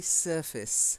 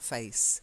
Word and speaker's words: surface: the a sound this this one doesn't have it it's actually surface not face surface and the next one